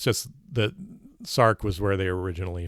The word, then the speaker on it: Src: name is spelled src it's always pronounced sarc in my experience because it's short for sarcoma that that oncogene that's